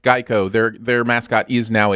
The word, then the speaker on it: GEICO: now a gecko yes yes even though it's pronounced geico their their mascot is now a gecko gecko